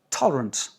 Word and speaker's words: tolerant: Mais en anglais, on dit tolerant. Tolerant. L'accent sur la première, toutes les autres sont réduites.